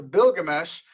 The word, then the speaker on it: Bilgamesh: the epic of gilgamesh the bilgamesh is the sumerian and older sumerian pronunciation all right so sumerian